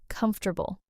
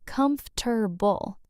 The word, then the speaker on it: comfortable: A lot of learners say com-for-ta-ble, four syllables. But the correct pronunciation is actually comf-ter-ble, three syllables. Comfortable. Comf-ter-ble. Okay, so we kind of skip a syllable in the middle. Kind of, yeah. The or in the middle sort of disappears in natural fast speech. Native speakers compress it, and that syllable just gets swallowed.